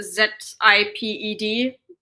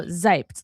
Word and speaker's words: Seibt: Basically for Americans, imagine zip ped. That's how you pronounce it. Oh, zyped. Like a z.